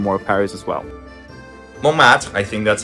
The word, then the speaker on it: Montmartre: We're at Montmartre, I think that's how you pronounce that.